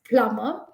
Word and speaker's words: plumber: a doubt d-o-u-b-a-t about the plumber it is just plumber and that is how